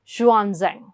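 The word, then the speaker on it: Xuanzang: एक्स है I know, but इन the Chinese it is pronounced as जुआ, सो जुआनजेंग।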